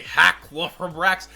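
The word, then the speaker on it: Halqifibrax: as we should say, Halafibrax. I think it's actually Halafibrax. The Q is silent, if I'm not mistaken.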